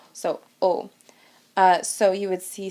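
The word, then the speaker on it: aux: a and Le become o you don't pronounce the X at the end but it is there so o uh so you would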